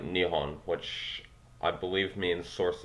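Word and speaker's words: 日本: Obviously, Nippon is a Laotian version of what Japanese would call their own country, although I think in Japanese it's actually pronounced like Nihon, which I believe means source of the sun, hence, of course, their flag.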